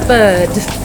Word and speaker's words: bird: So the word bird, for example, a bird. In American English, we pronounce that R, bird. Yeah. Whereas in British English, they would say a bird.